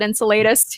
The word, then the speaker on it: Enceladus: one of saturn's moons it's called enceladus some people pronounce it enceladus you know we can fight over that but um it's